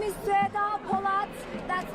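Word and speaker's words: Sueda: My name is Seda Polat. That's spelled S-U-E-D-A.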